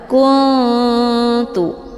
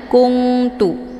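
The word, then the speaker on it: كنت: juga posisinya ujung lidah maka cara bacanya nunnya juga disamarkan dulu kemudian siap-siap menuju ke huruf ta kuntu kuntu Jadi bukan kuntu ya ataupun bukan dengan kunungtu tapi Kun kunu disamarkan nunnya hukum bacaan ikhfa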